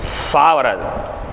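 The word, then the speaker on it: ف: வெளிய வரமாதிரி உச்சரிக்கிறது அப்ப காத்து வெளிய வரமாதிரினாலே ஒரு கேப் கொடுக்கணும்னு அர்த்தம் பாவுக்கு சொல்லும்போது சேர்த்து அழுத்துங்க அப்படின்னாங்க காத்து வெளிய வராத அளவுக்கு அழுத்துனது தான் பா காத்து வெளிய வரணும்னு சொல்லிட்டாலே என்ன அர்த்தம் ஒரு சின்ன ஒரு மைல்டான ஒரு கேப் நீங்க குடுங்க மைல்டான ஒரு கேப் கொடுத்தாதான் ஃபாங்குறது உங்களுக்கு உச்சரிக்க முடியும் அடுத்து காப் ஃபாவுக்கு வந்து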